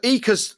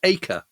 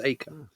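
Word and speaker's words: Eaker: get to do it 25 times yeah so EAS the commander-in-chief of eth Air Force apparently pronounced AKA really we Brits want to call him EA but apparently it's AKA Ira AKA okay well accept that and he's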